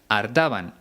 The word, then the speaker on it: hartaban: Bueno, Paco León pronuncia jartaban, con J, aunque el verbo original es con H y no suena, sería hartaban.